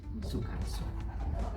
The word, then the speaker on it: Soekarso: Terus ee saya saya itu ee nama saya Sukarso. Sokarso ya? Suwe Karso pakai ejaan lama ejaan Suwe Karso.